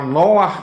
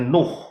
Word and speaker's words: Noach: lanjutkan nah ini ya bahasa Indonesianya Nuh begitu ya tetapi sebetulnya adalah Noah karena ada dari dua huruf ingat ya bacanya dari kanan Noah ya Noah yaitu kita